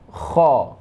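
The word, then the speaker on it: خ: Masih tenggorokan di tempat yang sama keluarnya, itu kha. Ya, tenggorokan atas ya, adna paling atas. Itu kha, cara bacanya bunyinya kha khi khu bakh khu khan khani khakhna minal mukhni makhi khan khani kha. Nah, dia itu agak getar ya.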